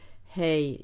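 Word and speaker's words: היא: he means she and it is usually spelled hey yud alef but sometimes it is spelled hey alef but it is always pronounced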